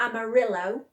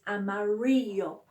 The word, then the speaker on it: amarillo: Two L's are not L, it's like a Y sound. Like, it looks like amarillo for yellow in Spanish, but it's amarillo, okay? Y, yo at the end.